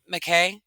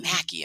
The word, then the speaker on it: McKay: picture picture that um how McKay is that how you say it yes sorry I keep thinking Macky in my head but Elder McKay